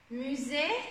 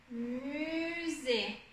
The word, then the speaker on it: musée: des, le son et, musée, ici on a le son et ici attention on a le son U, musée, musée, et là c'est invisible, ES ça ne se prononce pas.